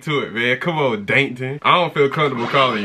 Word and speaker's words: Dankton: saying his name wrong it ain't Plankton it's dton dton I don't know how